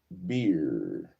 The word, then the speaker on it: bier: That's how I'm going to pronounce it, B-I-E-R. B-I-E-R. Beer. Definition. Beer. I said it right.